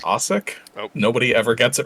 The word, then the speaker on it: Asick: Um, my last name's actually pronounced Asich.